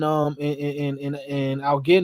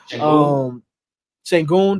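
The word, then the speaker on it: Şengün: And Algin, is that how you say his name? I'm throwing off everybody's name today. Sengun, there you go.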